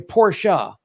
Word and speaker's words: Porsche: He goes, well, Porsche is the English pronunciation and Porsche is the German pronunciation.